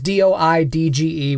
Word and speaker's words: Doidge: And that part of the foreword was by a guy named Norman Doidge, or Doge. I can't pronounce his last name. It's Doidge, whatever that says.